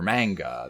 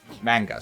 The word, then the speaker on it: manga: I'm sorry about that I put the emphasis on the wrong syllable the emphasis put the